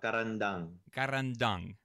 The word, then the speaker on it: Carandang: like I'm pronouncing that can you say it at least one time to see if I can get it right eventually if you do it's easy it's a caravan dung yeah yeah ok cool